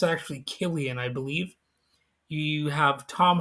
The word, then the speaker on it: Cillian: I used to always pronounce it Cillian, but it's actually Killian, I believe.